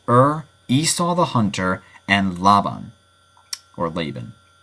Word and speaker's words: Laban: Esau the Hunter and Laban or laan I pronounce it Laban because I think that's closer to the original Hebrew ridic uh uh regardless